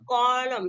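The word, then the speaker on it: column: ठीक नेक्स्ट देते हैं सी ओ ल यू एम एन देखिए एम पहले अगर आंसर मैंने आपका क्या साइलेंट है और इसको हम किस तरह पढ़ने हैं इसमें कलम ठीक है कलम हम बोलेंगे नेक्स्ट डाइम और से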